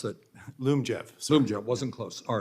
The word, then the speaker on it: Lyumjev: So that means, I may be mispronouncing it, Lyumjev, how do you pronounce that? Lyumjev.